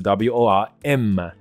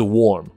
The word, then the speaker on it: worm: 朵的耳，所以好比说虫这个字 WORM，那它的发音就是 worm，不是 warm， warm 变成温暖了。